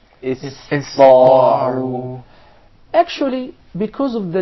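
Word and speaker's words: اسطاعوا: enough would tend to mispronounce the letter Sin, and instead they would pronounce it as Saad, because it suits more the Ta.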